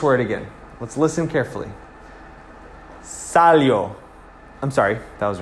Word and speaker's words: salió: Now, because there's an accent on the O, we're actually accenting the O specifically, not the I-O together. So it's not accenting the yo sound, it's accenting the O sound, different from the I.